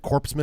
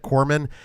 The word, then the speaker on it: corpsman: Was it intentional that you said corpseman instead of corpsman?